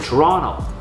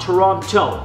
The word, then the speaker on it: Toronto: Yes, I said Toronto. That's how the locals say it, not Toronto.